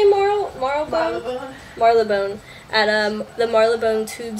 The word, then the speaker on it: Marylebone: How do you say Marylebone?